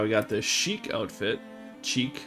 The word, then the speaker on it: chic: Cheek. I think it's chic is how you pronounce that.